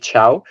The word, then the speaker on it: Thiaw: We understood it's pronounced Malik Thiaw.